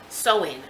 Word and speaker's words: Samhain: Halloween's origins date back to the ancient Celtic festival of Samhain.